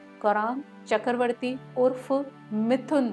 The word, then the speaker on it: मिथुन: Family में था, तो जो उनके नाम का प्रोनाउंसिएशन था वो किया जाता था मिठुन, यानी कि मिठुन चक्रवर्ती। और जब फिल्मों में वो आए तो उनका नाम हो गया मिथुन और इसी नाम से वो फेमस हुए।